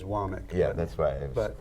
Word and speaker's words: Womack: some books, but I wasn't sure of the pronunciation, so thank you. he says Womack.